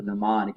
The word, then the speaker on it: mnemonic: what we call a mnemonic. Anybody know what a mnemonic is? The M is silent.